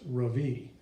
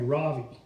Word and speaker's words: Ravi: first name is Ravi it's pronounced Ravi with a soft raw and a strong V in Sanskrit it means the Sun in America people call me Ravi with the stress on the first syllable that doesn't mean anything